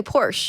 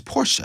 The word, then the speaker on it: Porsche: porsche i bought this thank you for saying it correctly do you know that is the correct word yes well most people say porsche no it's porsha i know okay okay